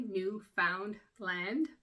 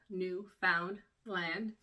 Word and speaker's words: Newfoundland: it as it's spelled new found land we'll be happy uh those of us who live here use run it all together and the found sort of becomes fun and we kind of